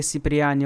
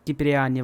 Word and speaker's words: Сиприани: Его фамилия Сиприани один раз неправильно произносится как Киприани в GTA 3 Definitive Edition в миссии Мсда.